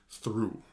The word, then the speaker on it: through: to spell it's t-h-r-o-u-g-h through right it kind of looks like throch for something like that right but it's through it's one of those